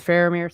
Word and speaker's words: Faramir: Famir, Faramir. I don't know. It's just it's very interesting the way they pronounce it in the movie is Phamir. So, I kind of went there, but Faramir.